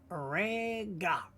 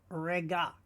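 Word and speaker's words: רגע: Uk, rega. Now you'll notice that the Aryan is in white, meaning we don't need to pronounce it. We just pronounce what we see, rega.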